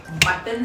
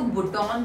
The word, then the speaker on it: button: ये तो क्या है, स्विच है, स्विच बटन है। अब बटन की स्पेलिंग क्या होती है? BUTTON है ना। हम इसको बुटॉन तो नहीं कहते, हम इसे बटन कहते हैं।